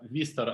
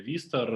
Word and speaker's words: Worcester: Школа Worcester Academy, правильно читается, находится в одноименном городе Worcester.